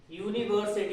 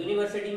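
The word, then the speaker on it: university: उसके बाद यूनिवर्सिटी, ये भी बहुत आता है। यूनिवर्सिटी में भी क्या है? या, तो हम किसका यूज करेंगे?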